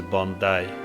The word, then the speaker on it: Bondi: And the right pronunciation is Bondi because it comes from a Bondi Aboriginal word.